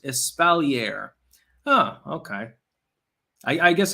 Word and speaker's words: espalier: apple tree thing is called espalier pronounced espalier ah okay i i